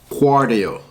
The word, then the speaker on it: Qardio: a funny-looking word and it says guar do so it sounds like cardio what would it Q